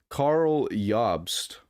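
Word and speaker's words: Karl Jobst: in huge trouble from Carl yobst I think is how you say his name name or jobs but I think the J makes it y absolute Legends can you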